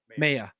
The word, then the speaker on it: Maya: You got to stress the first, not the last vowel.